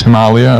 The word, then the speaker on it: Himalaya: So the Sanskrit is Himalaya, but the decision was to Standardize with the English pronunciation because everyone in English knows what Himalaya is.